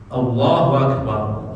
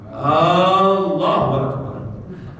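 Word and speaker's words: الله أكبر: Dia panjangkan hamzah, Allahu Akbar. Berubah atau jadi di sini artinya ada waktu istifham. Dalam bahasa Arab digunakan untuk suatu kata pertanyaan. Misalnya saya tanya, Bapak udah makan belum? Akalt. Apakah kamu sudah makan? Akalt. Kalau dibaca Allahu Akbar artinya apakah Allah Maha Besar? Mau memuji malah jadi menyaksikan.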